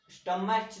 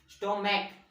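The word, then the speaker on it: stomach: अब देखो स्टमच नहीं बोलते, स्टमच नहीं बोलते हम, उसके प्रोनाउंसिएशन के हिसाब से हम देखते हैं। स्टोमैक, स्टोमैक बोल रहे हैं ना, क का प्रोनाउंसिएशन आ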